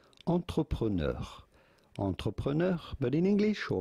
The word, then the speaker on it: entrepreneur: In French, this is normally said entrepreneur.